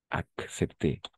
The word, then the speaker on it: accepté: Sí, tendemos a ponerlo todo como una C, pero en francés vamos a pronunciar las dos.